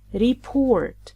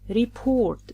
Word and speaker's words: report: Another example, "report" report. The stress is always on the second syllable. Don't stress "RE" and say 'REpOrt.